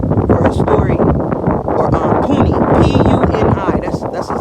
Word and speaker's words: Puni: P-U-N-I.